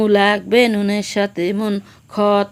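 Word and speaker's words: خ: হায়ের উপরে একটি ফোঁটা থাকলে তার নাম খ, তার নাম খ।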